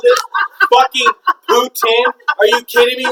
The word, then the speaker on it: poutine: You want to call this fucking poutine?